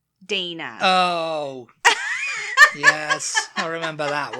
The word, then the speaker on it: Dana: Not really, but to us, D-A-N-A is Dana, right? Yeah. Dominic was pronouncing it Donna.